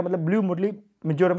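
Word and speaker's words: Murlen: इसके साथ में ये मरले, जो कि मरले के नाम से हमने याद किया है, वैसे मुरले इसको रियल प्रोनाउंसिएशन होगा, ये यहाँ पे हैं।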